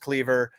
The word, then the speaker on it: Kliewer: Yes, that's how it's spelled. Yes, it's pronounced Cleaver. Easy to say, hard to spell.